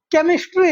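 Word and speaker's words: chemistry: केमिस्ट्री सी एच ई एम आई एस टी आई वाई केमिस्ट्री। अब यदि हम pronunciation करें सही सही तो सी एच है और अब तक हमने उसको सी एच जहां पर होता है उसका प्रोनाउंसिएशन हम च करते हैं। लेकिन यहां पे हम सी एच को क प्रोनाउंसिएशन करते हैं।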